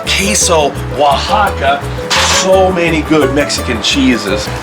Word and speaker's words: Oaxaca: lot on our tacos i use the queso oaxaca that's how you pronounce it shout out to rick bayless for teaching me how to say that queso oaxaca so many good mexican